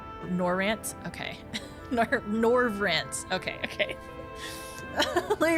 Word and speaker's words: Norvrandt: Oh, the D is silent. The DB silent. Okay, so Oh, Norvrandt. Norvrandt?